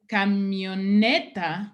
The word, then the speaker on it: camioneta: which any other word that comes after camión doesn't have, because camioneta, the stress is on the E.